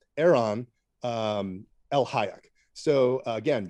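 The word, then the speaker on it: Eran: up the work of erhon or it's EA sorry e r a n Aeron um El Hayek so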